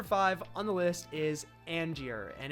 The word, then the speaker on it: Angier: on the list is Angier and if you read this for the first time it looks like you're saying angrier or Angier or something like that but it's pronounced Angier and if you say